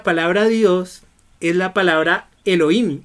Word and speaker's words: Elohim: Miren, esta es la palabra Elohim. Se escribe E de España, L de León, O de oso, y H de hijo, I de iglesia y M de Marte.